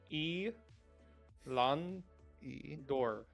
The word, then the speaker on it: Elandor: E. Lan. E. Dor. Is that hyphenated? No, I was just saying it slowly because sometimes people say it wrong. Okay. All right. Elandor, last name Elandor.